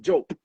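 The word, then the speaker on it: Diop: like his name is we we called him dop growing up because his name is for d i o p whole time we get to synagogue his name is actually pronounced joke bro my mind is blowing I'm like bro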